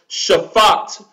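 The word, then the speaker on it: שָׁפַט: is the enunciated or pronounced Shafaat in the hebrew which least two just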